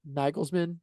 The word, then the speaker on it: Nagelsmann: the tactical battle that how how do you pronounce his name correctly? Nagelsmann. Did I say that correctly? Mhm. The Julian Nagelsmann. Yep. Julian Nagelsmann.